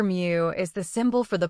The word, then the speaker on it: mu: The Greek letter mu, pronounced mu, represents the population mean.